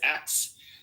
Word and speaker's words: ask: People criticize black people for pronouncing ask as X.